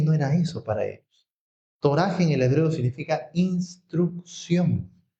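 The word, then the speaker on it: Torah: Digan Toraj. No es Torá, sino Toraj.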